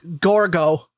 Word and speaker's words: Gorgo: one let's go over how do you say the queen's real name it's gorgo gorgo oh my god matt